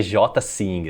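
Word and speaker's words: Ejsing: um dinamarquês chamado Jasper Eining. Tipo, Jasper se do mesmo jeito se pronuncia, você escreve, mas o Eining é outro nome, é J sing assim, pode crer.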